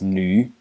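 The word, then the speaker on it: 女: It's pronounced nu in the third tone.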